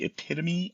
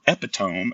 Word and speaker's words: epitome: all about making it the epitomy of reading or epitome as I used to say until I actually heard somebody pronounce it so epitom of reading